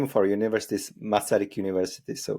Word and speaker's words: Masaryk: say it's the name of our University is masic University so it's like it's really simple fortunately